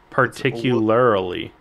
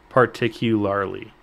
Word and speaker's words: particularly: say it particularly it I was hearing like an extra particularily is what i wasar r l a r l y at the end particularily particularly particularly l a r l